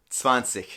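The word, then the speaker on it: zwanzig: need to memorize is swansea there's a pattern for the rest 30 40 50. but 20 you got to remember as swansea okay so now we have up to 20.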